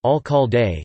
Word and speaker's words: Alcalde: The Alcalde, founded in 1913 and pronounced Alcalde, is the university's alumni magazine.